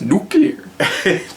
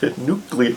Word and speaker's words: nuclear: that technology but anyways it's pronounced nuclear nuclear okay let's dive into this